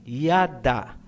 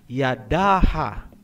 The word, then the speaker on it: yada: Hindi po, kasi ang A ay binibigkas kung may susunod pang syllable. Kung wala nang susunod na syllable pagkatapos ng last letter, hindi na po bibigkasin ang tunog na A. Gaya halimbawa ng salitang yada. Ang ibig sabihin niyan ay praise o pagpupuri. Hindi po binabasa na Yadaha.